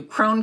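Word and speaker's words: Krohn: oh lynn thank you crone conservatory and i i knew it was one syllable and i just was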